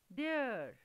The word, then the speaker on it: their: Children, have you noticed both these words sound the same? Both are having same pronunciation, there, there, although the spellings are different, T-H-E-R-E, there, and T-H-E-I-R, there, there, there, both are there.